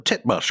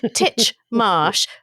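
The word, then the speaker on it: Titchmarsh: is a fancy Garden did you say tit Marsh we really have to talk about your pronunciation before we go titch Marsh Fel and latitude let's repeat after me it is not tit Marsh it is not lude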